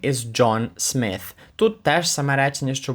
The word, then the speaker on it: Smith: добавляє свою фамілію Smith І там важливо в кінці помітити е дві літери t h які разом звучать як ф тобто ваш язик між зубами і ви видуваєте повітря Smith Smith I am 19 and